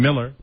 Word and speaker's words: Mueller: Rob would like Bill Mueller, pronounces his name Miller.